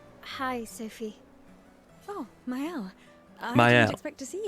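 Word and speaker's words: Maelle: I still don't know how to pronounce her name. I hope they say it at some point. Hi, Sophie. Oh, myel.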